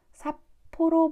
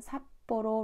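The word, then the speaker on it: 札幌: 발음 은 ' 파피 푸페포 ' 처럼 들리고 , ' 사보로 ' 가 아니라 ' 삿포로 ' 로 들리 죠 ?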